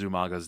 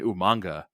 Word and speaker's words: Umaga: But yeah, the real pity of this whole match is that William Regal mispronounces Umaga's name, and then Jerry Lawler mispronounces Lawler's name or Umaga's name. They keep calling Umanga.